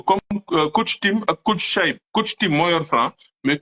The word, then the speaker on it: Chaïb: Nous soutenir ko comme coach Tim et coach Chaïb.